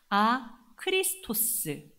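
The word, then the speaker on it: ἄχρηστος: 실제로 이 당시 사람들은요, 이 발음하고 에 발음을 혼용해서 썼다고 합니다. 그러니까 아크레스토스, 무익하다는 말의 의미는 실제로 그가 빌레몬에게 손해를 끼쳐서 무익하기도 했지만, 문자적으로도 무익하긴 하지만 아크리스토스, 뭐죠?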